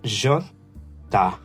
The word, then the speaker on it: jota: The J is pronounced like the J plus an A in Portuguese. So Jota, Jota, Jota. Then we have the J, it's called the Jota, Jota.